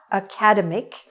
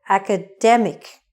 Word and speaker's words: academic: word it is not academic it is haka demmick the stress is on the middle academic this is an academic